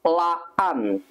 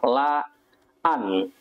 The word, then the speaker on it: laan: on a general rule, if the vowels are the same, you would put a short break between the two syllables. For example, this word, yeah, you would read this one as laan, yeah, laan, which means if some